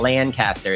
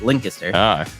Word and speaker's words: Lancaster: shout out to linkter you got to say it right it's not Lancaster it's linkter all right like a local he says like a